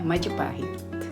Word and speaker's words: Majapahit: And also I'm fascinated with how Bill goes through combination of syllables before getting Majapahit right. Majapahit. Yeah, Majapahit.